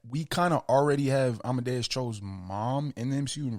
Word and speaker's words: Amadeus: play, and some people were theorizing it was Medus. Is that how you say his name? Amadeus.